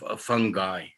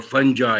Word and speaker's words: fungi: If you remember your general microbiology, chitin is characteristic of composition of cell walls of fungi or fungi, you can pronounce it.